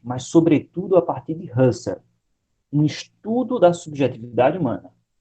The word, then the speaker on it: Husserl: E um cara chamado Edmund Husserl, vamos pronunciar corretamente, porque a pessoa confunde com Bertrand Russell, Edmund Husserl, vai criar uma ciência